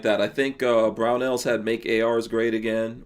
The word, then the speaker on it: Barnaul: Barnauls, that's how you're supposed to say it.